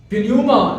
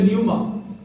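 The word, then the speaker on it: pneuma: रूहुल Quds के लिए पिन्यूमा जो लफ्ज है, ग्रीक में हम पी साइलेंट नहीं करते, पिन्यूमा हम पूरा बोलते हैं, इंग्लिश में न्यूमा।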